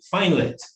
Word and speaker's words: FinLit: And so we pronounce our app name FinLit.